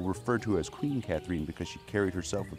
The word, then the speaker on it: Catharine: Catharine, that's right. The pronunciation is important.